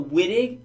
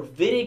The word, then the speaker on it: Wittig: Alright, so the Wittig, first of all, you pronounce it also Wittig because it's like German, so I say Wittig, but if someone says Wittig, don't freak out, okay?